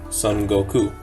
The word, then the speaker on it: Son Goku: But pronounced in Japanese, Son Goku.